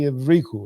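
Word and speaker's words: Evrychou: Evriku. He doesn't. You want to try it? Evriku. I've been saying it wrong for so long. Is it Evriku? It would be the stress would be Evriku, right?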